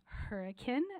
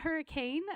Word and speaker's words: Hurricane: Valley Academy in uh Hurrican not hurricane uh we had uh